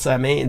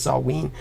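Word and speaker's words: Samhain: think it was called samain but it's Celtic pronunciation is Sween it will still be Sween season uh when we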